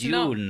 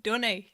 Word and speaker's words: Dune: DJ sound when it's June. not. Yeah, June. The June. Yeah, you're saying it really The weird. June. Anyway, you know what I mean. It's not pronounced like that. It's pronounced Dunny.